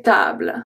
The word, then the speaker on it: tables: Une table, des tables. Une table, des tables. So table, table. Same pronunciation. So sometimes, like I said, the plural is also a X in French.